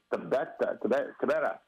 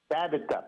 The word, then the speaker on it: Tabitha: Happy 39th birthday going to Tabeta Park. Is that how I say her name? Tabeta? It's spelled Tabitha? No. That's the way you say Tabitha? That's okay. the way. Sorry for that, guys. Tabitha Park.